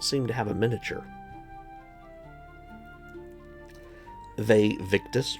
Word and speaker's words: Vae Victis: Vae Victis, or Vae Victis, if you want to pronounce it in the Latin, is doing the zombie horde this month, along with a couple more cultists of sorts too.